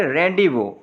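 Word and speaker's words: rendezvous: फिर देख लें रेंडिवो, रेंडिवो में दो अल्फ़ाबेट साइलेंट है, जेड और एस, ये दोनों क्या होंगे, साइलेंट होंगे।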